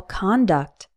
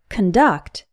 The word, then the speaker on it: conduct: con like on and when the co n is unstressed it is pronounced cun like son however there are some